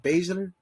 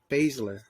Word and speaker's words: Baszler: Is it Baszler? Baszler.